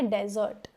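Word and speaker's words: dessert: नाउ डेजर्ट इसका pronunciation है डेजर्ट। बट अगर यह double S ई आर टी होता खाने वाला मीठा तो यह क्या हो जाता? डेजर्ट। ठीक है?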